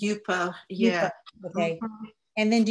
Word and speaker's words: Yupo: Am I pronouncing it correctly? Is it Yupo? It's Yupo, yeah.